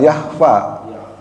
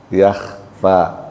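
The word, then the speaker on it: يخفى: nah itu yak tu yakhfa susah Kalau yang jahro mah enggak enggak tekan ya. Jahro ya. Jahro pakai ha besar lagi. Wama yakhfa pakai ko. Jadi bukan yahfa pakai ha.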